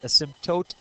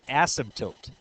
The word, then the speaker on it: asymptote: Can you guys say this word, asymptote? And I can pronounce it the other way, asymptote.